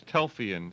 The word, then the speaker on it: Telfeyan: your host, and Ed Telfeyan. No, I don't think I said it right, did I? No, it's Telfeyan. Telfeyan, that's so easy. Why don't you have an IAN in there?